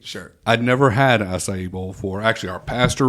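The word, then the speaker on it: açaí: I can never pronounce the acai.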